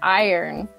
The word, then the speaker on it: iron: Okay, so the correct pronunciation is iron.